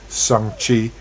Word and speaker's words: Shang-Chi: It's pronounced. Shang-Chi.